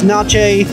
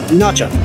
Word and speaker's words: Natchez: We are about to enter the Natchez. The Natchez. How do you pronounce it, Jason? Well, this is the Natchez, Natchez, Nache, Nacha Trace. Depends on if you're Spanish, French, English, or Native American.